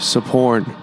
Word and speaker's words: Sophorn: Here we are with Sophorn. The H is silent. The H is silent, yes, indeed.